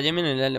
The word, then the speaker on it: Jimin: Para que me dijesen la pronunciación. Es Jimin, ¿no? La llamáis Jimin, tal cual.